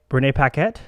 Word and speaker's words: Renee Paquette: it he's a very handsome man renee renee renee paquette is how you say her name very lucky